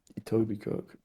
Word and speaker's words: Etobicoke: Toby Coke? Is that like Etobicoke. Itoby? Oh, I see. Itoby Coke.